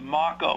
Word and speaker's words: Marco: okay my name is Marco that's uh Marco's pronounced like uh Taco um anyway uh thank you for this opportunity uh please support Senate Bill 52.